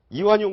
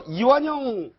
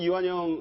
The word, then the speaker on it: 이완영: 이제 정의당 의원 2 이완용 으로 잘못 발음을 해서 또 의도적 오독 아니냐 이런 얘기도 있었는데 자 여기서 이완영 의원이 나오고 또 그